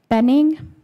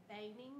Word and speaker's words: Benning: next speaker is Benning hi did I say your last name right no ma'am okay it's okay how do you say it baning baning okay and rotate that